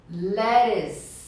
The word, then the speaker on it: lettuce: Gente, a pronúncia de alface em inglês, lettuce. Lettuce. Lettuce. Tem um izinho, né? Lettuce. É como se fosse um L-E-R-I-S.